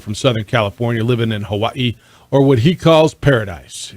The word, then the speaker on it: Hawaii: So when they recruited you, how'd you pronounce it, and how do you pronounce it now? It was Hawaii back then. Hawaii, right? Okay. But it's really pronounced Hawaii. Hawaii.